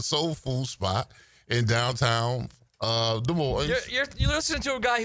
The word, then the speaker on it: Des Moines: No, it's not an S on there is an S on the end, but it's just Des Moines.